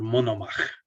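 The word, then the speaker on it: Monomakh: And Vladimir took his mother's nickname, Monomakos, and he became Vladimir Monomach. That's how you say it in Russian.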